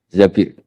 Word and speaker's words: Zabir: di di hadis ini bukan bacanya bukan Zubair tapi Zabir Abdurrahman Bin Zabir tapi